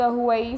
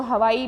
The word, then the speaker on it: Huawei: इसको हवाई भी बोलते हैं, कई लोग इसको हवाई बोलते हैं, कई लोग उसको हुआई भी बोलते हैं. तो अब हम इसको हवाई के ही नाम से प्रोनाउंसिएशन करेंगे.